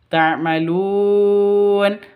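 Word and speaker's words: تَعْمَلُونَ: Mimnya jelas, tanya-nya juga je jelas. Ta'malun panjang boleh dua, boleh empat, boleh enam ketukan karena bacaan mad arid lisukun.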